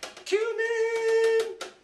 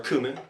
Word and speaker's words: cumin: Throw some black pepper, some cumin, or cumin, whichever way you want to pronounce it.